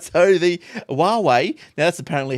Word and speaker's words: Huawei: a slight regret, that he didn't buy a Huawei, the new Huawei, world's slimmest smartphone. Did you got any? Oh my god! You can play with it. Any regrets, Shane? Not that one. All right, so the Huawei, now that's apparently how you pronounce it.